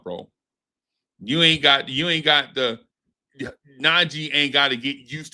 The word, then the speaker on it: Nnaji: Well, I would advise y'all look, hey man, look for James Najee. His on YouTube. His last name is spelled Nnaji. James Najee.